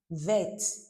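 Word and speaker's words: verte: Vet feminine.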